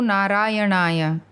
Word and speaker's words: Narayanaya: Om Namo Narayanaya. Swami. Pronounce the last syllable of the second word in a high pitch, brother, in the Rishikesh fashion.